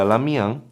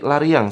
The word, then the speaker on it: Lariang: Terus ada lagi setelah itu ada Lamiang. Nah, semoga inframe semua ya. Predator River Seri Lariang. Sori saya ingatnya e kebacanya Lamiang.